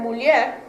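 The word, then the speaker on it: mulher: h and the word muler the r at the end is more strongly pronounced in Portugal than in Brazil so in Brazil it's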